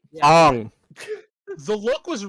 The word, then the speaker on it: Aang: to pronounce Aang's name right. Ong.